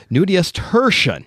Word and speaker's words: nudiustertian: I have to get the pronunciation right. So it is nudius. I'm already screwing it up. Nudius tertian.